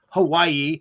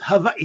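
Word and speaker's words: Hawaiʻi: are spelled using the German alphabet so you pronounce things so it's not Hawaii it's Hawaii Hawaii right right and actually both eyes are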